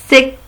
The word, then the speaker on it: sec: Alors maintenant, sec, sec. Qu'est-ce que nous avons? Qu'est-ce qu'on a dit? Pour la lettre C à la fin se prononce que. C'est le son que.